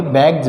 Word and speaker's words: bags: ऐसे ही BAGS, यहाँ पे जी आ रहा है, जी के बाद में एस है तो इस एस का उच्चारण क्या होगा, जय होगा। ऐसे ही हम इसको क्या बोलेंगे, बैग्स, बैग्स यानी थैला।